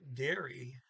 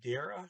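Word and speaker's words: dere: how to pronounce that because it's d-e-r-e normal rules trailing e is ah so dara no it's dear e okay so you just have to know that to the double e sound and then e derry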